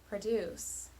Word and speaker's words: produce: this word for example i'm going to pronounce this word with two stress patterns the first long short and second short long listen carefully produce produce if you don't hear